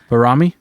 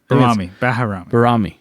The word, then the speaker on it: Baharami: Barami? Baharami.